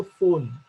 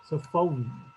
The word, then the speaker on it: phone: आपण म्हणतो phone. Its actual pronunciation is f, then au, and then you have at the end n. So phone.